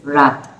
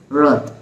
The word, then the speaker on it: wrath: We will say this wrath, but it is not wrath, it is wrath. Wrath. For the W, we round our lips.